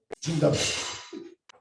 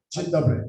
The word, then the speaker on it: Dzień dobry: Dzień dobry. Dzień dobry.